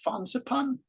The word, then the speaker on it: Fansipan: you say the name of that mountain it's fansipan Sophie there hey Sophie are you there how